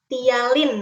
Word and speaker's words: ptyalin: menghasilkan ini nih enzim ptyalin namanya jadi bacanya Tia Linenya hialin pnya nggak perlu disebut ya Tia link-nya LINE